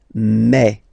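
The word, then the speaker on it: mes: Okay, so for the phonetical or pronunciation aspect of it, then remember that this es here combined will give you the sound e. Okay, so you'll pronounce it like me, okay, te, so logical,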